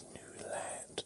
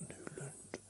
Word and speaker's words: Newland: Just like it's Newland, not Newland. Even though everybody else in the world says Newland, including all my family, they don't know how to pronounce their own surname.